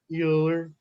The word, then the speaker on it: Euler: time miller yeah euler euler sorry it's not your it's euler as in like the houston oilers but yeah sorry it